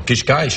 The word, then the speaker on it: Cascais: Not everybody can pronounce the words all that easily. Cascais? Like No. Cascais, obrigado.